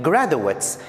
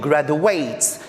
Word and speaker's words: graduates: I'm saying graduates, that's the noun. I'm not saying graduates, because to graduate is the verb, and university.